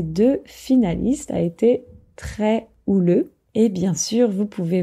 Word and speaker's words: houleux: débats sont généralement assez houleux houleux ça veut dire agité donc un débat ouleux c'est un débat avec beaucoup d'agitation attention oule ça s'écrit avec un H mais on ne le prononce pas et donc par exemple